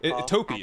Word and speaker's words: topi: Topi. Okay. Toe or no? More like toe than P at the end. So topi is correct.